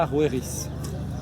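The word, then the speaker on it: Haroeris: grand Orus le grand dans l'ancienne langue égyptienne son pronom se prononce her her les Grecs ont modifié à arweris donc si jamais vous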